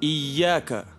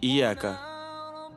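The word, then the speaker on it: إِيَّاكَ: то есть две буквы я тогда верно будет ияка а не ияка если осознанно читать ияка Человек может стать даже кафе потому что ияка Солнечные лучи если он скажет то получится мы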